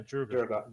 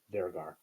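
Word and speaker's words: Duergar: Yeah, Drugar. Durgar. Drogar. Durgar. We have There's no R at the beginning. It's at the end. Durgar.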